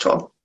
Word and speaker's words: Tolle: tolle at cartoon and it's pronounced tool um and that like